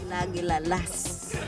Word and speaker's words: kagilagilalas: She's a Filipino woman and she doesn't know how to pronounce kagilala lagas. Kagilagilalas.